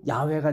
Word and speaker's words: 야훼: 근데 이거를 우리가 발음하기가 좀 이상하니까 그냥 여호와로 해버린 거예요. 이거 호자니까 이거는 W니까 이거 아자니까 그냥 이게 더 발음이 좋다고 여호와로 했는데 아도나이의 모음이 진짜 가면 야훼가 되는 거야.